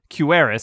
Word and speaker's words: Quewaris: It rhymes with no one told me.